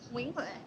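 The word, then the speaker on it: Nguyễn Huệ: Nguyen Huệ. That's it, see, listen to her. What's the worst pronunciation you've heard somebody use in Vietnam, apart from me?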